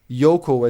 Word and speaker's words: Yoko: A friend ma a friend made fun of me for saying yoko as yoko because in Serbian je even in Japanese it's yoko. It's only in English that it has that O.